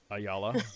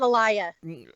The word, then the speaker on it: Ayala: So, most people can't pronounce my last name. Ayala. Pretty easy. Yeah. So, uh, it comes out alia. Alia. Yeah. Yeah, they put the L for the Y.